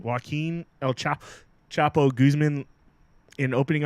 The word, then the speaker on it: Joaquin: so the feds revealed their main witness against yoke wheat how do you say that joki Joaquin Joaquin el chapo guzman in opening arguments to the